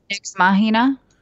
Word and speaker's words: Nex Machina: Is it like the movie Ex Machina? Is it Nex Machina? Nex Machina? Nex Machina? Yeah, how do you say that? Nex Machina? Nex, is it NEX? NEX, yeah.